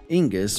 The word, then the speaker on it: Inguz: Inguz, or Ehwaz, is a complex rune, pronounced as a nasal N.